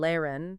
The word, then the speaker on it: lehren: The silent H follows a pattern, often appearing after the vowels E and A. Words like fahren, to drive, pronounced fahren, and lehren, to teach, pronounced lehren, exemplify this.